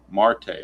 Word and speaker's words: Marte: Marte. I'm pretty sure Marte is right.